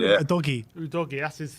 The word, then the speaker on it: Udogie: Udogie, that's how we pronounce it.